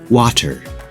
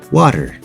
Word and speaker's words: water: look at some examples water with a hard tea it would sound like water but we say water butter with a hard